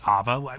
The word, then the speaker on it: Aava: I also think she pronounced it Aava, which I guess with the double A's makes sense.